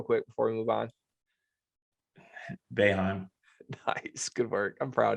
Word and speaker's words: Boeheim: Boeheim.